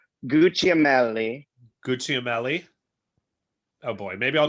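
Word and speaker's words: Gugliemelli: Gucciamelli. Gucciamelli. Oh boy, maybe I'll just Yeah, say like Joe. kind of like Gucci.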